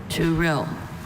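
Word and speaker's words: touril: Turil. Or is there any alternate pronunciations?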